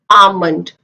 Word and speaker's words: almond: याद रखें जब भी L D F K M से पहले आए, D F K M से पहले आए तो L को बोला नहीं जाता. L is silent in that word.